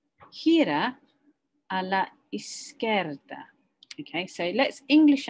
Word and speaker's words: izquierda: Okay, so I kind of tend to break it up. Izquierda. Izquierda. Bit like, boom, I'm so scared, okay?